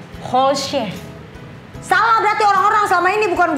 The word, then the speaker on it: Holscher: Holzer, tapi ini Holzer. itu kan fam gue Jerman. Ya, Jadi deh, sebenarnya lalu- kalau bacanya itu tuh sebenarnya Holsche.